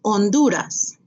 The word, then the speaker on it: Honduras: Remember, H is silent, so you don't say Honduras, Honduras. ¿Dónde está Honduras?